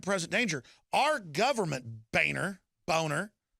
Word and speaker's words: Boehner: a clear and present danger our government Boehner boner it's his real name why not just pronounce it you're like if I said my